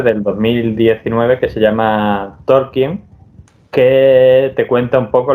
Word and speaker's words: Tolkien: verás se llama torquin ahí aprendí yo que talking no se dice tolkien sino se dice talking Pero bueno Y que